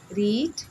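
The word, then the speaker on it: read: अब देखिए रीड में सब में सेम स्पेलिंग है, प्रोनंसिएशन में कुछ थोड़ा सा डिफरेंस है। जैसे हम रीड पढ़ते हैं तो सेकंड थर्ड को हम रीड नहीं पढ़ेंगे, सेम स्पेलिंग है, तो उसको प्रोनाउंसिएट जो हम करेंगे वो रेड एंड रेड करेंगे, ठीक है।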